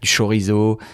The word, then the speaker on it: chorizo: On avait aussi du chorizo, comme on dit avec la prononciation française, quoi d'autre, du jambon,